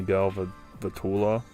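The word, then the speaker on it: Galvantula: Um I believe he ends up fighting a Galva Vula, which that's how you pronounce the Pokemon name.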